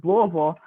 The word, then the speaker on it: Louisville: which means you have to know how to pronounce Louisville, like you're from here, which is Louisville.